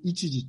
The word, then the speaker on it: 一次: 、一時、一にそれから継ぐという字を書いて一時と読みますね。